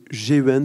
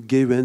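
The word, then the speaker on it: Geuens: est difficile à prononcé c'est gens ça se dit ou gayens G e u e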